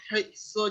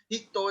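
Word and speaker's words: 人: How about how I pronounce watashi wa Marisha hitsu desu? Is that correct? Right? No? What is one more time? How is it? Watashi wa Marisha hito desu.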